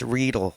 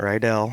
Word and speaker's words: Riedel: Oh, it's Riedel, by the way, not Riedel.